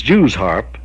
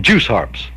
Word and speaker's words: Jew's harp: It is Jew's harp, Jews harp, but I think any Kentuckian or any country boy would call them juice harps.